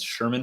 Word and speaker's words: Scheirman: you're going to need to know how to spell that for all of this stuff coming up so my website is sherman for congress that's for spelled out for there